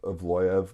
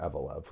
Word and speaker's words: Evloev: And Evloev. Oh my God, brother, what are your thoughts? I know his name's Evloev, but I'm gonna keep calling him Evelev because I like how that sounds.